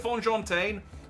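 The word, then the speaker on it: Fonjantaine: I think we agreed it was Fonjin Tane or Fonjin Tan, Fonjin Tane, Fonjon Tane. We'll go with Fonjon Tane, and we'll stuck with it.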